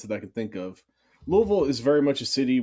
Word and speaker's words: Louisville: born and raised in louisville kentucky that's how you say it if you if you say more than like one syllable you've said it wrong so um yeah they